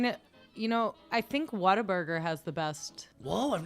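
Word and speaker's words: Whataburger: it what a burger it's spelled what a burger but a burger everyone there says what a burger what a Burg yeah I think it just evolved Into Water Burger like you have to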